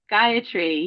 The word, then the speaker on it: Gayatri: Is Gayatri Mantra? Yeah, the Gayatri Yeah. mantra. Yeah, Gayatri.